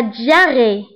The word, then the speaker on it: diarrhée: الاسهال هو la diarrhée. la diarrhée. la diarrhée. فبالنسبه لا diarrhée فتكتب ب h ولكن لا ننطقها.